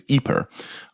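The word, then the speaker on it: Ieper: well not outside um the town of Eip or as the Belgians would pronounce it today, it's Eper.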